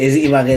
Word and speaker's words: Ibagué: Ibagué, ¿cómo se escribe? Ibagué por las calles. Sí, es Ibagué de vagar, Es con B.